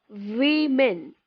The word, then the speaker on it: women: So, word number one that we have on the list as showing on the screen, we spell WOMEN. Now, how do we pronounce this word?